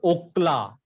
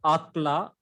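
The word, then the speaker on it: אָכְלָה: When syllable is closed and unaccented, it gives a O sound instead of A sound. So it is, it is Okla. It is not Akla, Okla. like O in sword.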